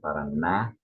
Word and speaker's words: Paraná: Ele é do Paraná, there's an accent, Paraná.